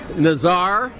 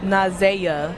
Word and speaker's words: Nazaya: Nazar. No, that's not right. Nazaya. Nazaya. It's Isaiah except with an N. Yes, Nazaya.